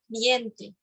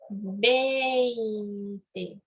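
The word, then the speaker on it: veinte: Você não vai pronunciar viente, viente, não. 20, 20, tá?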